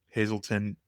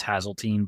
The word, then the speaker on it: Hazeltine: Also, where I have found was on YouTube, and the YouTube channel is Hazelton LLC. Is it Hazeltine? It's technically pronounced Hazeltine, but I never correct Hazeltine.